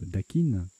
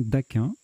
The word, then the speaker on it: dakin: de la prononciation donc c'est pour pas qu'on dise daikin en fait j'en sais rien moi je dis toujours dit d'aquin je vais aller vérifier du couloir passez un temps mais excusez moi je fais poser je vérifier ça parce que ça me tracasse voilà vérification faite sur le sur le wiktionnaire le dictionnaire un peu wikipédia et bien en fait ça se prononce bien d'aquin et la petite ambiguïté